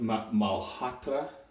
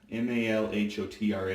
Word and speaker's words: Malhotra: So, it's from a company called, pronunciations could be way off, but Malhotra, M-A-L-H-O-T-R-A, Malhotra, something along those lines, shaving products.